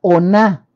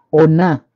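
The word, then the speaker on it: onah: hebreos, aparece para día, noche, ellos le llaman oná. La oná se escribe con O-N-A-H, oná.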